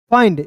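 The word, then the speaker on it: find: फाइंड याद रखिएगा। अंतिम में आई एन डी दिखता है तो उसका उच्चारण आइंड के रूप में करेंगे।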